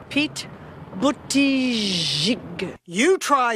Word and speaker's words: Buttigieg: Oh my God, Pete Buttigieg. Pete Buttigieg. You try saying the name of South Bend, Indiana's mayor. I'm Pete Buttigieg.